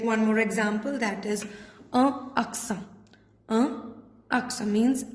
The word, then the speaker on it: accent: We'll take one more example, that is aksa. Aksa means accent. Aksa. Again, here we are ending the pronunciation here only on N. So, T is silent.